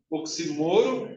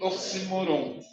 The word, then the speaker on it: oxímoro: Você sabe que a palavra oxímoro, ela pode ser pronunciada também oxímoro e oxímoron.